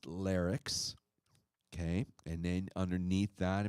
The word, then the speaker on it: Larix: It's pronounced Larix, okay?